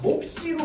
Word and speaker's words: 몹시: 기억, 비읍, 받침 뒤에 된소리를 표기하지 않는 규정이므로 국수로 발음되는 국수나 몹시로 발음되는 몹시는 전부 뭘로?